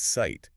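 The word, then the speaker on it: Zeit: The word for time is site. Zei T. It's not zite.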